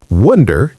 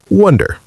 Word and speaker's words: wonder: Wonder is pronounced with an sound in the middle. Wonder, like the word under, but with a W. Wonder.